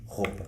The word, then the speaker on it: roupa: In Coimbra? We say, for example, the word pouco (little) we say pôco. The word roupa (clothes) we say rôpa.